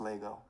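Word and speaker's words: L'ego: And in French, the way you would say the ego is le ego, L apostrophe ego. And it would be pronounced Lego.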